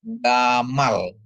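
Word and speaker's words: גָּמָל: Nah, terus ada email dikasih kamats, mem dikasih kamats ditambah lamet ya jadi bacanya gamal ya.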